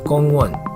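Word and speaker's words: 공원: kongen whereas in korean the same word is pronounced kongwan but it's spelled differently because korean uses the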